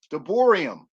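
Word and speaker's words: דברים: and i'm learning in hebrew you pronounce that deuteronomy de boerium and i learned that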